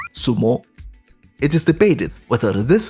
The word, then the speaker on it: sumo: As it turned out, Yanqing was quite proficient in wrestling and won a Xiangpu contest, pronounced in Japanese as sumo.